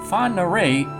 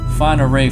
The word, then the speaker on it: Whangarei: Whangarei is Maori, so it's not spelled or pronounced the way you'd expect. It's not Whangarei, it's Whangarei.